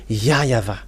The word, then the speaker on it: YAHVAH: In Eastern part, the W for them, they pronounce it as V or B.